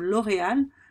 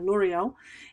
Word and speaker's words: L'Oréal: Si je reviens sur exportable, par exemple, quand on a une marque comme L'Oréal, il y a un joli R au milieu. En anglais, c'est pas facile de prononcer le R, donc pourtant la marque L'Oréal, elle est très exportable partout, elle devient L'Oréal, et justement, elle a